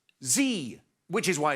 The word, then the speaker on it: Xi: Next one is Xi, but it's pronounced Z, which is why it's Xerxes or Brexit rather than Xerxes or Brexit.